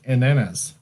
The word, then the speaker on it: ananas: Wait, Priscilla is saying it's not pronounced that way, Blake. It's pronounced ananas.